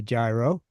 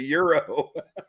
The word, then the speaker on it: gyro: I thought it was called a gyro. No, it's a euro. Well, it should be spelled EURO then.